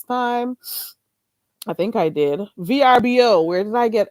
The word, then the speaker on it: VRBO: And you could also try the VRMB. I hope I said it right this time. I think I did. VRBO.